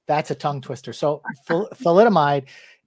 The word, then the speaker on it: thalidomide: Thalidomide. thalidomide. Wow, that's a tongue twister. So thalidomide, it's used for morning sickness, or that was they thought.